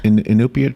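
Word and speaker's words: Iñupiat: From Is it Inupiat? Is that how you say it? Yes. Inupiat?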